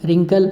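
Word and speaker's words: wrinkle: Next, चेहरे पे झुर्रियाँ वगैरह हो जाती है तो उसे कहते हैं रिंकल। आप क्या बोलते हैं उसको? रिंकल बोलते हैं। इसमें डब्ल्यू साइलेंट रहता है, आर से इसका बोला जाता है रिंकल, रिंकल, ring, रिंकल, रिंकल।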